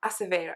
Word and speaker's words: Acevedo: come across a interview with elizabeth acevedo acevedo acevedo is how she pronounced her name i've ever come up with